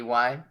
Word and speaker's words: Wednesday: I'm just imagining Wednesday if it was pronounced how it was spelled. Wednesday. Wednesday. No? Wendsday.